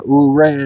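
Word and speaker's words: Ouray: Um Uh Uray, I believe is how it's said. Oo, O U R A Y.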